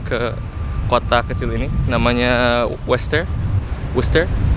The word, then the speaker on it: Worcester: Tapi meskipun tulisannya kayak gitu, dibacanya Worcester.